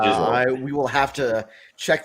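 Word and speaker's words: Gisele: Also, I was going to say, I'm pretty sure it's pronounced Giselle.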